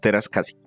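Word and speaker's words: Teräs Käsi: Si ustedes lo miran, está escrito y las As tienen la diéresis y los dos punticos arriba. Eso quiere decir en inglés que esa letra sí se pronuncia tal cual. Que en inglés a veces las Cs al final no se pronuncian, pero si ustedes ven que tiene esos dos punticos, les toca pronunciarla. Es Masters of Terascasi.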